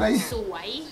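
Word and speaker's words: สวย: Here you have to pronounce it correctly. Soy with like a going up kind of soy? Thing. Soy? Because if you say soy it in a wrong tone, it will be like you would say sarcasm.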